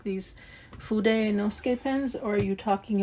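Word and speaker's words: Fudenosuke: And they said, you kind of don't pronounce part of it, so it's just Fude Nosuke. You don't pronounce that like the U. You don't say oo there, but yeah. Fude Nosuke pens.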